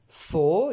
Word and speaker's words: for: For, isolément ou en début de phrase, forme pleine. For. Ici, forme réduite. Julie can swim for 3 hours. Donc on retrouve les sons E à chaque fois.